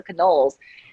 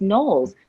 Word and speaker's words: Knowles: phone asking for canoles and i was like i can't believe they all they always mispronounced my name it's so easy it's knowles like knowles at all and he was like